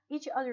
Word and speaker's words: each other: Each other is not attached, but you still pronounce it as if it is attached. Each other, each other. You don't say each other, you don't say that, you say each other.